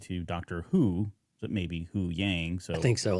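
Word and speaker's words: Huyang: his name and now it sounds like who who yang right and a little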